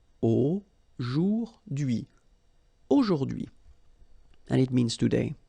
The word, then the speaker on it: aujourd'hui: H is not pronounced, so you only get this d'hui thing. Aujourd'hui.